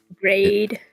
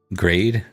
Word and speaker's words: Greed: But Grade. grade, Look it up. yeah, Grade. I bet you. Let's see. Yep, you're right. It's grade. Great. Like that. Like laid.